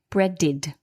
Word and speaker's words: breaded: battered and breaded now bread ends in a d which is this dental consonant so the e d is pronounced id breaded earlier we saw needed